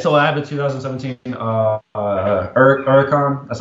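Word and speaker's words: Huracán: So I have a 2017 Huracan. That's how it's pronounced.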